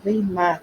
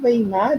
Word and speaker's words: Weimar: Porém, né, ainda em 1925, nós vamos ter uma República de Weimar, ou Weimar. Tem algumas pessoas que pronunciam Weimar e outras Weimar. Então, as duas colocações estão.